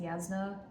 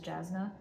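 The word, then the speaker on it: Jasnah: book tube I realized her name is actually pronounced yasna but I've always thought of it as jasna but yes there is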